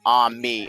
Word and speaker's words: ami: It's pronounced ami as in a h m e as an abbreviation for Amazon machine.